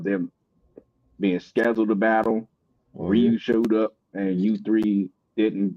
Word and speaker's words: Ryu: Is that how you pronounce it? My bad. I thought it was Rayo. Is it Rayu or Ryu? I I Street Fighter character, ain't it? The street fighter character is actually pronounced Ryu.